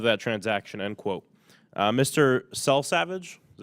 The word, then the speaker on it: Selsavage: Selsavage, is that how you say it?